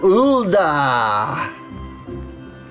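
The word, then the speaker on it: Ul'dah: and good luck all right off to ulda just make sure to say because it's ulda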